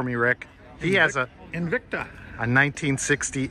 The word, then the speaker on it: Invicta: He has a Invicta. A 1960 Invicta. I always like to add syllables to it, like Invicta. No, but don't do that.